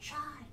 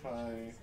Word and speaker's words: chi: You have the Delta designation and the Chai. the Kai designation? Whatever. C-H-I. It's Kai.